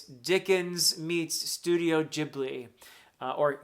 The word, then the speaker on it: Ghibli: The way I've been describing this to people is it's Dickens meets Studio Ghibli or Gibli if you prefer the Italian pronunciation.